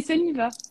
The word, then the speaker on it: Sunniva: Ça se prononce comment? Oui, Oui, c'est Suniva. d'accord, Suniva.